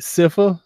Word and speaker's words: Sypha: We got you meet Sypha.